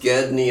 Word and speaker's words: Gedney: It looks like it's pronounced Gadney, I would say.